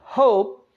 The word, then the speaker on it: hope: ऐसे ही HOPE, होप, HOPE, होप, नॉट होपी, होप, ई एंड पर vowel आ रहा है, उसको हम प्रोनाउंस नहीं कर रहे।